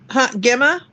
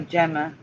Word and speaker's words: Gemma: And the beginning of April, Gemma? No, Gemma. Oh, I've been saying it wrong.